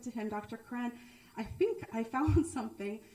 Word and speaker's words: Koran: on this crowd because his name is spelled Koran. He is not Muslim, but Dr. Quran is a dear person.